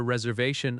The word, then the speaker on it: reservation: The word reservation has stress on the third syllable. re-ser-va-tion That va syllable is strong.